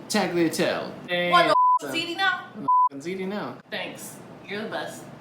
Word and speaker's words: tagliatelle: homemade taco tail homeless how do you actually pronounce tackle tail tagliatelle now thanks you're the